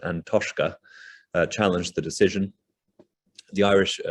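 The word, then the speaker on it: An Taisce: the irish national trust which i think is pronounced and toshka challenged the decision the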